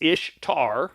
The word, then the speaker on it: Ishtar: So So um so Ishtar uh is pronounced Ishtar, not Easter.